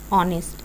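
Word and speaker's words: honest: जैसे for example with silent H, यहाँ पे साइलेंट एच है। एन ऑनेस्ट, an hour, N एयर, an hour.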